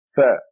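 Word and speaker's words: ث: Tha. Tha. I want you to look at me now. Tha. You stick your tongue out. Tha. TH as in think, through, TH.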